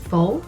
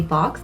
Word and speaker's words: faux: are from the fox I think it's pronounced faux but I always say fox okay I'm going to go with faux from the faux mink